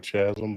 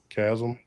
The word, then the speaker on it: chasm: on I believe because I said chasm but it's chasm, right?